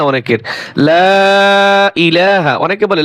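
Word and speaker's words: لا إله: কিন্তু এইযে লা এখানে তিন আলিফ টান হবে। ইলা এক আলিফ টান হবে। এইযে ইলাহা ইযে হামজাই এই উচ্চারণটা আসে না অনেকের। লা ইলাহা অনেকে বলে লা ইলাহা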